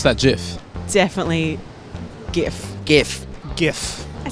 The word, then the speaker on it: GIF: guy called Steve Wilhite it was originally pronounced with a soft G as jiff but a lot of people now call it gif with a hard G